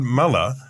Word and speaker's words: Muller: and only seconds after we've learned to pronounce his name correctly Todd meller has resigned as leader of